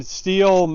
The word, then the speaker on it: Stihl: It's supposed to be pronounced Stihl, but everybody calls it Stihl.